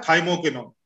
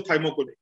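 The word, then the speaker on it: thymoquinone: पहला है थाइमोकिनोन, स्पेलिंग लिखा देता हूं, टी for tango, थाइमो, THYMO, थाइमो, QUINONE, थाइमोकिनोन।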